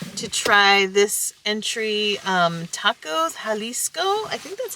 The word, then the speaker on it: Jalisco: We're very excited to try this entry, Tacos Jalisco. I think that's how you pronounce it, right? I believe so. The J is an H.